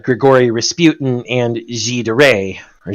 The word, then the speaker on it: Gilles de Rais: said, Grigory Rasputin and Gilles de Rais, or Gilles de Rais, or however you want to pronounce it. It's Gilles de Rais in French.